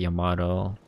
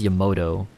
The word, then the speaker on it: Yamato: like watch his videos whenever he talks about the Yamato he always says Yamoto like bruh also he